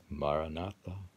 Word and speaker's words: Maranatha: your word your mantra the word I recommend you take is Maranatha and you say it by articulating the four syllables give equal time strength to each one ma not find your